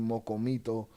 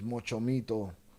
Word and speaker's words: Mochomito: Have me over here looking crazy, and then they blame me for saying Mocomito when it's Mochomito. Motherfucking Velez motherfuckercito.